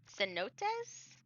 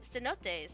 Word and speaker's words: cenote: I am pretty sure this is not um pronounced with a hard C. I'm pretty sure it's cenotes.